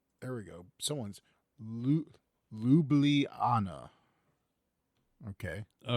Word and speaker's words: Ljubljana: Someone's Lublana.